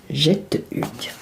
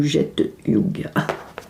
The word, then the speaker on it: Getahug: Jette Hugues. Voilà. Donc ce sont des petits oursons fabriqués à la main et articulés. Jette Hugues ou Jette Hugues. Voilà, je pense qu'on peut prononcer de 2 façons, hein, avec un joli petit ourson.